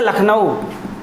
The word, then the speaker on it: लखनऊ: जैसे लखनऊ, प्यारे बच्चों, मित्रों ध्यान दीजिएगा, लखनऊ देखने में तो LAKH होना चाहिए, लेकिन ये इसके जो वर्तनी होती है, इसका जो प्रोनाउंसिएशन होता है वो इंग्लिश में दूसरा होता है, LUCKNOW।